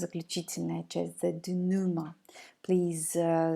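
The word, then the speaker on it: dénouement: the the notion the do Numa originates from the French language that is why we are not pronouncing the ending the letters EMTs never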